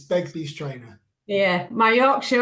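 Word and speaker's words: Begbies Traynor: So moving on to our second speaker, Thomas Harris from Bagby's Trainer. Is that pronounced right, Thomas? Probably not. It's Begbie's Trainer.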